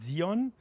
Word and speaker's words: Sion: So if you're a German, you pronounce it Zion. And if you want to use it as the original Zion, you can call it Zion, of course. But Sion is okay as well.